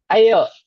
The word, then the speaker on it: ayo: Ayo.